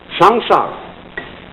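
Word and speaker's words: संसार: s a m s a a samsara it's pronounced samsara and although samsara is represented in popular Buddhist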